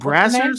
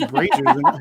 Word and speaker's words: Brazzers: So it's called Brazzers? I thought it was Brazers. I've been saying it wrong.